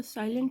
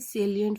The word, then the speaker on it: salient: तो कुछ लोग इसको साइलेंट फीचर्स कहते हैं, तो मैं उसको क्लियर कर दूं कि स्टूडेंट्स, ये साइलेंट फीचर्स नहीं है, ये सेलिएंट फीचर्स है, ठीक है।